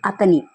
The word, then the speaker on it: అతని: The difference between these two sentences, his atani, you have to pronounce lightly atani.